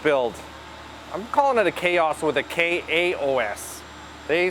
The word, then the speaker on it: Khaos: I'm calling it a Khaos with a K-A-O-S. They spell it K-H-A-O-S.